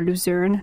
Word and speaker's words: Luzern: We did Lucerne or Luzern, depending on how you say it, which is just like an hour away or so, south of Zurich.